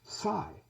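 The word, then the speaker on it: psi: the the Greek letter P in English it's pronounced Sai in Oka they say Sai but if you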